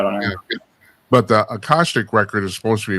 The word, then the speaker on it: Akashic: about, except I think that, and how's it pronounced? Akashic? Akashic, yeah.